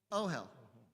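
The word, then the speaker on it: אהל: Ohel. Right? Like, oh, hell. Right? Oh, hell.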